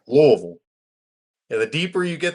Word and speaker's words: Louisville: It's Louisville. Yeah, we have you got you got to say it like you have a mouthful of zins. Yeah. You need marbles in your mouth. You you you you skip some steps.